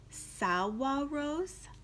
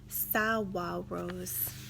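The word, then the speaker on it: saguaros: giant cactus plants called Salwa rose and if you look closely at that word there's a G in it but it's showing me how to pronounce it Salwa rose they held their red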